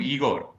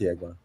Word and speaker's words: Yegor: Is that how you pronounce his name, Yegor? I've been calling him Igor. Yeah, it's Yegor. I think it's Yegor, yeah.